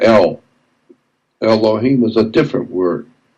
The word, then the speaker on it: El: And so in the Phoenician language, which we call Hebrew, the word for God is El, E-L, period. God is spelled E-L, El.